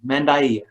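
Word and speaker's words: Mandaiia: aramaic or in arabic using a word that sounds more like mandayan mendaiya and so they prefer that way of pronouncing their name and so i've been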